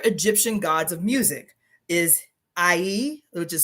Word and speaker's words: Ihy: But the other Egyptian gods of music is Ihy, which is spelled Ihy, is the Lord of Vibration.